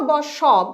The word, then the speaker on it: বাস: তালব্য স হিসাবে SH, আর বাস আমরা উচ্চারণ করছি দন্ত স এই হিসাবে স।